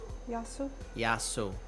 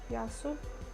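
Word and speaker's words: γεια σου: a y but it's pronounced yah pretty much and then s o u Yu Yu yasu yasu wow man says favorite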